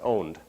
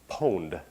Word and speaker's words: pwned: everyone's seen this right I'm not sure how many people think that that is pronounced owned and how many things that is pronounced pwned so owned pwned all right good so it turns out that I'm at least the sources I had they thought it was owned so I'm glad to